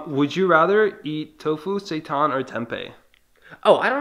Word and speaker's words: seitan: How do you pronounce it? Seitan. Seitan.